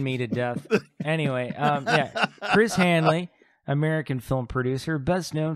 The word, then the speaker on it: Chris Hanley: Okay, so now we're on to Chris Hanley. Not to be confused with Chris Hansen. No. Very did I guy.